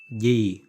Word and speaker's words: gì: Gì. Gì. Under the spelling is gì. The pronunciation in Southern Vietnamese is gì.